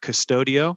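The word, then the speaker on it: Qustodio: of that are really well done is uh custodio and the custodial is spelled it's a little different spelling q-u-s-t-o-d-i-o that's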